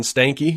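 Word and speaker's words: Stankey: it was big yeah uh AT&T Chief John Stanky which Apparently that is how you say that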